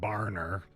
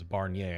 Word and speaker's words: Barnier: It's not Barner. His name is Barnier.